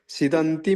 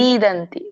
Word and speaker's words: ಸೀದಂತಿ: Krishna ಯುಸುಂ ಸಮೂಪ ಸ್ಥಿತಂ ಸಿದಂತಿ ಮಮಗಾತ್ರಾಣಿ ಸಿದಂತಿ ಸಿ ದೀರ್ಘ ಇದೆ ಸೀದಂತಿ ಮಮಗಾತ್ರಾಣಿ ಮುಖಂಚ ಪರಿಶುದ್ತಿ ಹರೇ